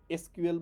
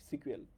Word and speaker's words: SQL: এসকিউএল বলে, SQL, বাট এটার উচ্চারণ হলো সিকুয়েল।